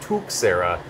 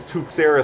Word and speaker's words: Tuxera: happy hour afterwards and the one guy pronounced it tuera but then the other guy went on to tell me it was named after tux from Linux and that's definitely tux so I don't want